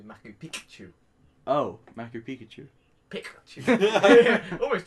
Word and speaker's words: Machu Picchu: But yeah, you gotta say it right though. You can't say Machu Picchu, it'll be Machu Picchu.